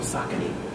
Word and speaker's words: Saucony: But what we found out yesterday, they're called Saucony. Is what the company actually okay, right, right. Saucony. We, right. No, we always right. say it wrong. We make our own name.